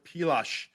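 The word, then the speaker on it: Pilař: Dominic, can we start the trend to pronounce Vladar as Vladosh, like Karel Pilash in Toronto?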